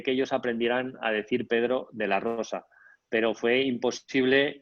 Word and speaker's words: Pedro de la Rosa: ellos aprendieran a decir pedro de la rosa pero fue imposible y de hecho mi nombre o sea ellos cómo construyen las palabras por sílabas me llamaban tedoro pero de la losa entonces puede sonar una